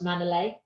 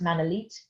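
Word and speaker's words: Manolete: may have come across manila it's actually pronounced man elite um and he is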